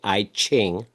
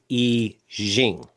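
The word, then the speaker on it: I Ching: So most people say IQing, but it's really pronounced Eing. Okay. But anyway, the Eing breaks the flow down into 64 different slices of the pie.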